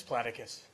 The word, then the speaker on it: Platicus: could say it for it's platicus okay just the way it's spelled okay thank you uh